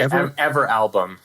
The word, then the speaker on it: Everalbum: I would say Everalbum.